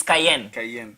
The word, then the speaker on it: Cayenne: Karen Cruz. Cayenne. It's Cayenne. Cayenne Cruz. Mm-hmm. Oh, I got that name wrong.